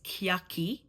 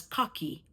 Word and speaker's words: cocky: Now, the word is not pronounced as kyaki. It's pronounced as cocky, just like the English word.